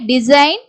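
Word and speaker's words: design: வந்து சைலென்ட் அதே மாதிரி டிசைன் கன்சைன்மென்ட் இங்கயும் பாருங்க என் க்கு முன்னாடி ஜி வருது ஜி வந்து silent சைன் சை சைன் vent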